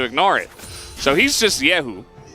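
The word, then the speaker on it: Kyeahoo: The K in his name is silent. His real name is Yehu. His last name is Kang, which is where the K comes from. We ignore the K and pretend like it's not there, which is very difficult for play-by-plays.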